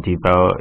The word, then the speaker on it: Depot: And then when I walk into the stores and talk about Home Depot, they're like, "Home Depot's wrong, the T's silent."